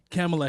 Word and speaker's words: Kamala: Kamala Harris, I believe. If I thought it said it wrong, I apologize. Maybe I thought it was That's Kamala.